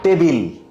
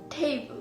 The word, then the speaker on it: table: টেবিল। It's not table. Then Table. What? Table. টেবল। Yeah. সবসময় তো এটা টেবিল বলি। না। ভুল?